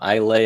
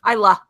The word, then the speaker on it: Islay: this is technically in Isla Islay I always forget the right way to say that Iowa I la la thank you I look gets me every time mm-hmm but it is